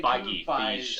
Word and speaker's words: Feige: Kevin Feige, I don't know. Feige. Yeah, we're terrible with Feige. names. But It looks like it's spelled like beige. I'm So I'm going to say the way Kevin that they Feige.